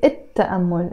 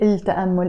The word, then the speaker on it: التأمل: Literally, I'm saying مثل, which means like, التأمل, but I'm pronouncing it التأمل, again, because the T is a sun letter, so I don't say التأمل, even if in Arabic